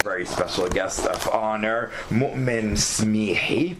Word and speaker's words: Moumen Smihi: And our very special guest of honor, Moumen Smihi. I'm pronouncing it half Arabic, half French here.